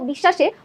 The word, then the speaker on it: বিশ্বাস: দেখো এই বানানটাই দেখো বিশ্বাসে বফলাটা আছে মাঝে যখন মাঝে থাকে তখন আমরা উচ্চারণ করছি কি বিশ্বাস দুইবার স এর উচ্চারণ করছি অর্থাৎ বফলা সাথে থাকবে সেই ব্যঞ্জনটা আমাদের দুইবার উচ্চারণ করতে হবে দপ্ত যাবে দপ্ত মানেই